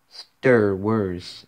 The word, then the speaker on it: STER WERS: Pronounced, STER WERS and spelled STERWERS.